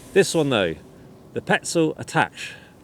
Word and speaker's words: Attache: as well uh but there's no accent over the E I've heard the petel